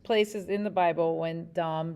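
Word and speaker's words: דם: word that is used there is uh it's dom is how it's pronounced it's like d-a-m right and i just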